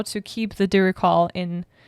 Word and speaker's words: Diricawl: So this week we'll take a closer look at the Diricall.